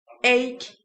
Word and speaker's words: ache: the pronunciation A A many people say h and that's grong that c has to a k sound ache ache what is an